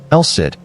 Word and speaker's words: El Cid: Elsai, the Lord, Spanish tongues gradually reshaped the Arabic pronunciation. Elsid.